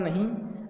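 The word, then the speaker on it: know: नहीं। और इस वाले इसको भी नो बोलते हैं, यहाँ पे के साइलेंट रहता है।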